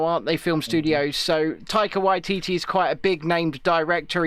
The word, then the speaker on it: Taika Waititi: Yes, Taika Waititi.